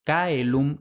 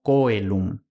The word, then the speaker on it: caelum: Por supuesto, si lo pronunciamos con la pronunciación eclesiástica, el resultado es exactamente el mismo, chelo. Pero con un poco de lingüística histórica podemos justificar que lo que hay en latín es caelum, no coelum.